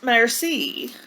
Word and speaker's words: merci: thank you in French it's a mercy you say it like this merci see she's teaching him